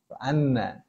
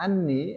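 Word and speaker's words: أنّ: Anna. Baik. Itu kalau dibacanya anni akan salah.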